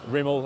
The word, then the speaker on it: Rimmel: Rimmel as in rimming, like Rimmel as in like rim hole. rim hole. Yeah, that's it. That's how it's spelt, yeah? Yeah, Rimmel as in rim hole.